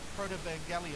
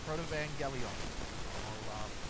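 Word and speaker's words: Protevangelion: 3, and what this is called is the Protovangelion. I'll say that one more time, Protovangelion. I'll even spell it for you, because I want to serve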